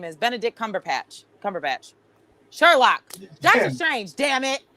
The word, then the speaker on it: Benedict Cumberbatch: Bent Dink Cucumber, whatever his name is, Benedict Cumberbatch.